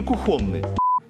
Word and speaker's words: кухонный: А, кстати, как правильно произносить? Кухонный или кухонный? Прошу. Кухонный. Конечно, я кухонный, Николай.